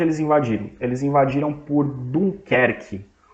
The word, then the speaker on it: Dunkerque: Eles invadiram por Dunkerque, ou a pronúncia em inglês, Dunkirk.